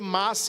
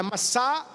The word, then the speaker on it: Massá: Nas leituras, geralmente a gente lê Massa e Meriba, mas a pronúncia certa é Massá e Meribá.